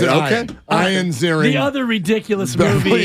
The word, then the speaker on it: Ian Ziering: He pronounced it okay. Ian Ziering.